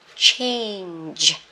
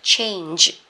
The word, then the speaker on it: change: Thay đổi nè, change, hơi khó phát âm nhá, change, hơi chu mỏ, giật đầu giật cuối luôn, nhưng mà âm cuối thì rung cổ họng nhá, change, thay đổi.